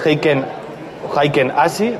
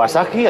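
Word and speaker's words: Heikin-Ashi: La de velas japonesas, el Heiken Ashi o Asahi, hay muchas formas de pronunciarlo.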